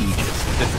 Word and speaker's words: Aegis: icefrog made a point okay so the correct pronunciation technically speaking of ages it's aegis it's a literal world you're gonna see it